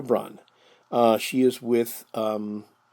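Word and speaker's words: Brann: resemblance to hitler's mistress it is not ava brown but it is eva eva braun is b-r-a-n-n not brown but braun eva braun uh she is with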